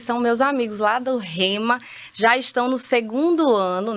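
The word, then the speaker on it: Rhema: E olha só, para você que não conhece o Rema se escreve R-H-E-M-A, certo? Tem um H aí.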